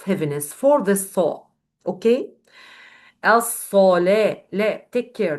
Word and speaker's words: الصلاة: الصلاة. لا, take care. This lam, it's a light letter, so don't pronounce this lam with a heavy sound according to this صاد.